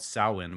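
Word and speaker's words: Samhain: Celtic pagan holiday right it was um called Sinn which I always pronounced Sam Hae when I saw it but it's pronounced sin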